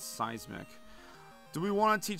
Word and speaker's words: seismic: is trying to learn seasic toss that's how the N64 St announcer pronounced it I think it's seismic do we want to